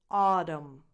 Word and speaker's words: autumn: British English, you say autumn. Autumn. So the first syllable is the stressed one. So you have aw as in awesome, just like August, and the rest is unstressed. So it's autumn.